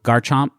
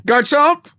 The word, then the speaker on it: Garchomp: So, Garchomp. Garchomp. Don't say it like you're at a French restaurant trying to get the waiter's attention. Garchomp.